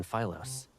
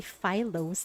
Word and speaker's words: Philos: Paper is rare on Philos, but on that planet, it's an everyday necessity. Oh, the pronunciation is actually Philos, not Philos.